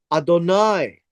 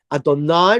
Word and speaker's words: Adonai: So Adoni, just a slight change in pronunciation of the last syllable. Adonai refers to God. Adoni refers to anyone but God.